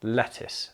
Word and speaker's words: lettuce: It is just pronounced L-E-T-T-I-S, I would imagine, lettuce, but it's not lettuce, lettuce.